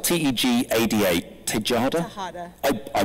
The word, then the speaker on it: Tejada: Tejada. I butchered it.